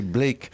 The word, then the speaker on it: Blake: tard leurs traits à Black et Mortimer. Donc je prononce Black, il faudrait prononcer Blake.